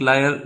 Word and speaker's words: liar: पहले को आपको पढ़ना है लॉयर, लॉयर जो मैंने सामने लिखा है, और वकील को बोलते हैं लॉयर। और लायर जो होता है LIAR, लायर मीन्स झूठा, ठीक है।